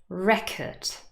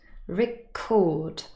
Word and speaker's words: record: is not the same with the nouns the stress is on the first syllable protest record suspect but if these words act as verbs the stress is on the second syllable protest record suspect and there are